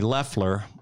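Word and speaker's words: Loeffler: be loftler because of hermie leffler that's how she pronounces it kelly leffler really came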